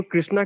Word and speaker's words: कृष्ण: जाप है उसमें तो प्रभुपाद जी खुद ही कृष्णा कृष्णा बोलते हैं प्रभु जी, और आप बता रहे हैं कि कृष्ण कृष्ण वो सही उच्चारण है।